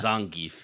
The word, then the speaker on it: Zangief: He checked your pronunciation. It's Zangief.